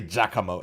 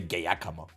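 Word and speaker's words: Giacomo: Uh, that's how correctly pronounce it in Italian. They don't say jakamo in Italy. They say gayakamo.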